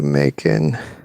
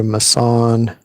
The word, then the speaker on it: Macon: Bear shapes on Bayou Macon. So it's Bayou, it's pronounced Bayou Macon. Originally it was pronounced Bayou Mason, or it's sometimes called Bayou Mason.